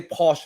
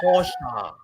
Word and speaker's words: Porsche: And then it's like, they know Americans say Porsche, right? And he said, no, it's a Porsche.